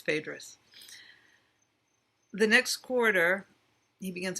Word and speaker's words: Phaedrus: Phaedrus it's for you I've been pronouncing theatres wrong John for Vicki when he pronounced it I realized okay it's Phaedrus the next corridor he